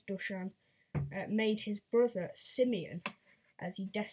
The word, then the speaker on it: Dušan: It's sort of an S with a V on top of it. So I don't know how that's pronounced. So I think it's Dušan.